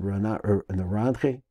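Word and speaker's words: נרנחי: These are usually what's called Naranchi. We pronounce it Naranchi.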